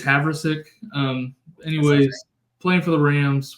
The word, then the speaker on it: Havrisik: I don't know where the emphasis goes in this name. I haven't got to watch a ton of Rams games. On the wrong syllable there, maybe. Yeah, I think it's Havrisik.